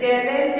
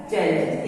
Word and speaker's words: challenge: जैसे चैलेंज है CHALLENGE, तो यहाँ लास्ट में ई है वर्ड के अंत में, चैलेंज वर्ड के अंत में, इसके ई यहाँ साइलेंट है चैलेंज।